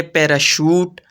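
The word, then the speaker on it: parachute: ऐसे हैं जी या कभी-कभी सीच शीन की आवाज भी देता है जैसे पैराशूट और मशीन तो यह तो था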